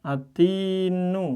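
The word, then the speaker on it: التين: Atin langsung ke tnya kasrah atin misalnya. Maka cara membacanya gimana? langsung gini kayak orang baca ati nu jadi langsung atin jadi lamnya ini tidak dibaca ya ini yang pertama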